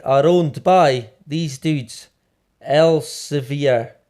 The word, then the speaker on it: Elsevier: owned by these dudes elsevier i think is how you pronounce it elsevier el savayar maybe we'll go with elsevier right non-solus which seemingly